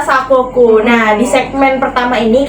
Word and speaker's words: Sakoku: Sokaku dia bacanya. Oke. Yang benar adalah Sakoku.